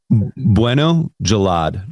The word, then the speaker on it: Bueno-Jallad: say it now and you can correct me Jaled is that how you say how do you say your surname Bueno Jalad like that sounds so cool sounds